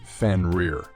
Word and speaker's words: Fenrir: He was the son of Loki and the giantess Angrboda, and his name is pronounced Fenrir.